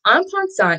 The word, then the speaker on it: en passant: Okay, so en passant is actually French, and it means in passing. So it's spelled E-N space P-A-S-S-A-N-T, en passant. So, and you know, I'm not French, so I don't really have the little accent with it, but yeah, so this